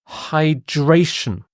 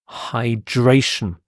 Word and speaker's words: hydration: next word is hydration hydration again you've got this sh sound because of the ti h hydration and this is having